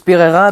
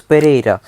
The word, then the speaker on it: Pereira: Parce que là où mes grands-parents habitent en Colombie, la ville s'appelle Enfin, en français, ça se prononce Pereira mais en espagnol ça se ça se prononce Pereira.